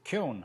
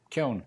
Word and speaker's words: Keown: Kuhn? Very good. That's not bad. That's close. Kuhn. Imagine that it rhymes with moan and groan and bone and stone. And stick a K on the front. Kuhn.